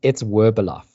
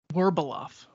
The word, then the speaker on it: Werbeloff: It's Werbeloff. Werbeloff. I don't know why. And it's originally a Russian surname, which now all of a sudden is out of vogue.